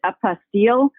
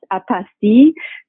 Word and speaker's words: apostille: America many pronounce it apostille but technically it's a French word and it's pronounced apostee so we can use